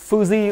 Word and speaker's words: Fuji: À, cái này tiếng Nhật thì người ta đọc là Fuji các bác nhá. Còn theo anh em ở Việt Nam, các bác ở Việt Nam thì hay gọi là Fuji.